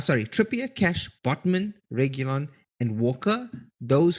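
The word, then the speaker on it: Reguilón: How do you say his name? Regulon.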